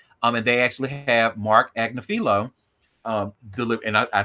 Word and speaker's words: Agnifilo: And they actually have Mark Agnifilo deliver, and I said his name right finally.